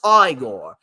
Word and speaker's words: Igor: something from from Young Frankenstein you must be eigor no it's pronounced aigor but they told me it was eigor well